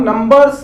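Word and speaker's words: numbers: नंबर, हम नंबर्स अक्सर नंबर्स बोलते हैं, तो सा नहीं होकर वो ज साउंड होगा, नंबर्स, जेड।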